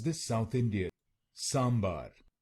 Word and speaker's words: sambar: what's sandar sand bar let's learn how to pronounce this South Indian sambar s s yeah sambar I I don't know